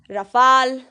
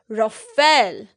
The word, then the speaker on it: Rafale: बहुत लोग इसे गलत प्रोनाउंस करते हैं। People say it as Rafale, but this is incorrect. This is not Rafale. This is Rafale, Rafale, Rafale.